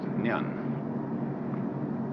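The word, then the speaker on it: 念: It's pronounced Nyan. Japanese Nen.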